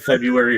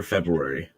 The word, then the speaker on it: February: Do you pronounce the R? As someone born in the month in question, that's a silent R, my friend.